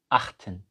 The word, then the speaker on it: acht: Então, achten. Achten. O número 8 para antes, para no T. É um T mudo.